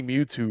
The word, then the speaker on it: Mewtwo: It's not a cow ghost. It's Mew. Mewtwo. It's MewW like like Mew number two.